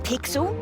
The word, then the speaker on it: Pixel: I'm Pixel. It's easy to remember because it rhymes with pickle.